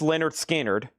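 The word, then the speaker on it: Lynyrd Skynyrd: Pronounced Leonard Skinnard.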